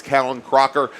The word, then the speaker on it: Callan Crocker: And yes, I've been corrected on the pronunciation of his first name. It's Callan Crocker. And he is now getting